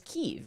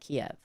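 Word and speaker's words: Kyiv: It's Kev, right? You're supposed to pronounce it Kev, not Kiev. Cuz Kiev is the old way of saying it, I guess.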